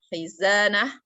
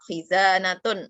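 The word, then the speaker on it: خزانة: Walaupun itu huruf tak, tapi ketika namanya tak marbutoh, ketika diwakafkan, bacanya dimatikan, maka menjadi ha. Kayak ini, khizanah. Nah, itu kalau diwakafkan jadi ha kan. Nah, tapi kalau ada karena ini cuman benda tok tanpa ada kalimat yang lain, ya bisa kita khizanatun, itu bisa. Khizanatun itu bisa. Itu tetap bacanya tun, tak. Tapi kalau diwakafkan, disukunkan, itu jadi ha.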